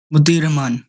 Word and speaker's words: موتی: ہے، متی نہیں ہوتا، متی ہے یا موتی ہے بھائی؟ اس کو ابھی پوچھتے ہیں۔ ہاں جی السلام علیکم۔ وعلیکم السلام، موتی ہے یا متی ہے؟ موتی رحمان، موتی اور رحمان، نام اسپیلنگ آپ نے